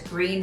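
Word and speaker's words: Gruene: fourth on the list is green Texas and you spell that g u NE it is German Heritage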